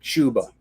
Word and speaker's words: Chuba: that i hate that we have to pronounce it chuba that should be chubba hubbard shouldn't it that pisses